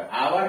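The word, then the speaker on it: hour: आवर का उच्चार शुरू तो है यक से, लेकिन यक साइलेंट है, लिखते हैं आवर, पढ़ते हैं आवर, इसलिए एन आवर।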